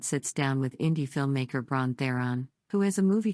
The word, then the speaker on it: Bron Theron: Yes, you did it. Bron Theron. My mouth wanted to go to how I said it wrong the first time, and it was like, no brain. Let's get this together. Yeah, that's correct. Bron Theron.